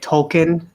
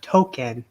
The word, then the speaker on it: Tolkien: You know how like they had Tolkien, the only black kid in South Park, and they were like they went on and saying like, oh no, it's pronounced Tolkien, like from J.R.R. Tolkien, not Token.